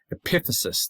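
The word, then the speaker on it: epiphysis: Epithesis, that's the end of the bone. So now the thing top of the bone, epithesis, accent on the second syllable.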